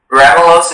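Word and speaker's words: ramulose: Ramelos is the only pronunciation.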